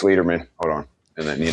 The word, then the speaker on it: Leiderman: Is your last name is it Leatherman or? Leatherman. Leatherman? See, I I Like like I'm a leader, man. Leader? Hell yeah. There you go.